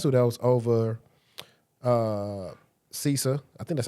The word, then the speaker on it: CISA: remember the last dude that was over uh CISA I think that's how you pronounce it right CISA.